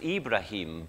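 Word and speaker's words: إبراهيم: one of them um Abraham is also an Arabic name it's usually pronounced ibraim but it's the same man Abraham so Ishmael the son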